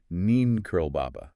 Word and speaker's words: Neem Karoli Baba: And there, he meets his guru, Neem Karoli Baba. Right, whom Das affectionately pronounces as Neen Curl Baba.